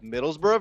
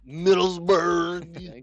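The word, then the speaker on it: Middlesbrough: Middlesborough versus Lester. You said that wrong. Can you please say it right? Middlesber. Thank you.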